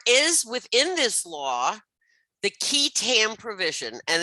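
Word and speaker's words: qui tam: within this law the key tam provision, and this is pronounced QUI, is pronounced key tam provision, also known as the Whistleblower Statute.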